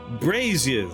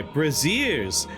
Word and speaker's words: braziers: Shrine dominates the room brazers surround its Edge sorry braziers surround its Edge almost pronounce that word wrong well a larger one